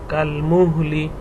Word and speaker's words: كالمهل: সামাউ, কাফলাম জবর কাল, মিম হাপেশ মুহ, লামজের লি, কাল মুহলি, কাপলাম জবর কাল, মিম হাপেশ মুহ, কাল মুহ, লামজের লি, কাল মুহলি।